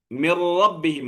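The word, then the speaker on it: مِن رَّبِّهِمْ: അതുകൊണ്ട് പിന്നെ അവിടെ നൂന് നമ്മൾ ഉച്ചാരണത്തിന് ഉണ്ടാവുകയില്ല. മിൻ റബ്ബിഹിം എന്നുള്ളത് പിന്നെ എങ്ങനെ പറയാ? മിർ റബ്ബിഹിം എന്ന് പറയാം.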